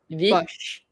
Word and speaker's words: vide poche: close, but there's no accent on this E. Forgot. I forgot what else the E sound like. Vid. Vid. Vid. It's And now vide. you pronounce, and then you emphasize the D, right? Because it's like Yes. the T, it's like the S earlier, so it's the Yeah. vid. Vid. So it's vid Vid push.